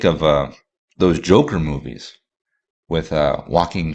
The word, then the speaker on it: Joaquin: those Joker movies with Joaquin Phoenix or Joaquin Phoenix, I think, as it's properly pronounced, where that was a